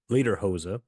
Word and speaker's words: Ledderhose: Ledderhose. I think I'm pronouncing. I think it's like Lederhosen, like the pants.